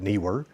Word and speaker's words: Neewer: today we're going to be going over the newer or newer I pronounce it kner because NE e KN guess we could put